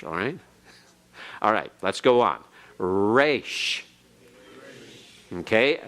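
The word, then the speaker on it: resh: go on Rach okay the R as in rot and the are in Hebrew we kind of give a very smooth pronunciation we say rocked rat rate we say all those things but remember in other languages its rolled a little bit and in Hebrew the race is rolled a little bit not normally so much the beginning but especially internally and so as we go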